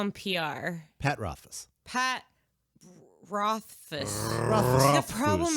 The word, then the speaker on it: Rothfuss: Pat Rothfuss. Pat Rothfuss. Rothfuss. The problem is the last name. It's Rothfuss. Rothfuss. Rothfuss. Rothfuss. Rothfuss. Rothfuss. Rothfuss. It's like Rothfuzz, but with a soft S.